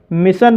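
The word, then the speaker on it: mission: अब मैं आपको बताता हूँ दोस्तों दूसरे सफिक्स वाले शब्द, जैसे मिशन शब्द के अंत में SSION आया है और यहाँ पर SSION का उच्चारण सन हुआ है, इसलिए इसे मिशन पढ़ा जाता है।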